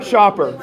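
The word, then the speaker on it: Schaper: it starts right here how about that Shopper spell it last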